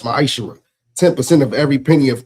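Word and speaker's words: מעשר: Means 10th in Hebrew and is pronounced ma'aser.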